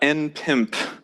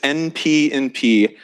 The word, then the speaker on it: npnp: No, that is not npimp. The way to pronounce it is npnp, as in, does polynomial time equal non-deterministic polynomial time?